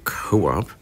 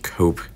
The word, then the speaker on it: Coop: this to be pronounced Co-op but it's actually pronounced yeah it's actually pronounced cope and not Co-op or Coop which would make sense